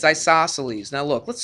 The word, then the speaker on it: isosceles: Isosceles. Isos. I-S-O-S. And then celes. What is C-E-L-E-S? That's all it is. It's isosceles. Even after I go over it, like Celine Dion, exactly.